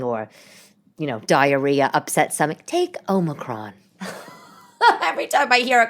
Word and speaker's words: Omicron: kids home because of Omicron, which I'm finally pronouncing correct, because for some reason I was thinking it was Omnicron. Don't you think that Omicron sounds like something you